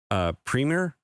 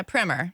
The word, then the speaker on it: Primer: capital yeah dude and I hope I'm saying it right premier oh yeah primer primer yep yep the premier outdoor